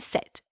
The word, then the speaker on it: cet: The second and the third sound the same, but they're not spelled the same. The second sound the same simply because a vowel will follow that word, okay?